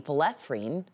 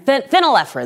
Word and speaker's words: phenylephrine: the committee determined medications containing folefrene falafrin am I saying it right doc then offering phenylephrine there we go are it effective as